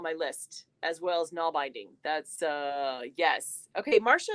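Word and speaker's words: nålbinding: jumped in two um null binding is Scandinavian one needle knitting it's older than normal knitting pronounced oh thank you nual binding okay this is very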